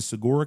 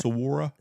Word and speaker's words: saguaro: I mean, you've got the saguaro cactus in the south, which is, until you've seen them in person, you just cannot believe. How do you say it? Saguaro? Saguaro cactus.